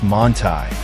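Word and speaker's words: Manthey: The Manthy kit, pronounced Montai, transforms an already formidable track weapon into something downright outrageous.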